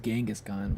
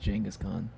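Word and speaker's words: Genghis Khan: I guess it's not pronounced Genghaskhan, but I'm pretty sure it's pronounced Jangaskhan.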